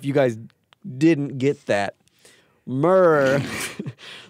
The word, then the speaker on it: Murph: Murr, like first syllable in murder.